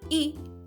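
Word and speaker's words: इ: we come to e e is pronounced as I in the word bit or sit it's a short vowel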